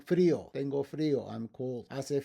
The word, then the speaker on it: frío: I-O, with a written accent to break the diphthong. Frío, tengo frío, I'm cold.